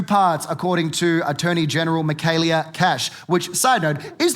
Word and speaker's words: Michaelia: They're like, oh, Michaelia rhymes with Australia. It's like, yeah, it also rhymes with failure, so let's ease up a bit.